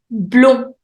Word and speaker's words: blond: On continue avec blond. Blond. D is silent.